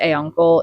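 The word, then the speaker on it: Auncle: I pronounced it A-Uncle. It's like A-U-N-C-L-E.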